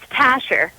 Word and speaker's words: Tasha: What is it, Tasher or Tasher? It's Tasher.